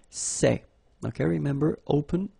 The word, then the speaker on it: ces: plural form so masculine plural it would be say okay and then feminine plural good news it's